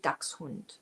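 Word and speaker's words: Dachshund: It's ducks hund. It's a hund a dog and he chases ducks.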